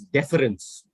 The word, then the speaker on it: deference: r e and c this word is pronounced as deference okay okay basically means